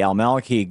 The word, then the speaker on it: al-Maliki: So now we've got the al-Maliki government.